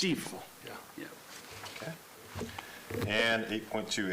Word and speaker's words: Stifel: It's spelled stifle, but it's pronounced Stifel.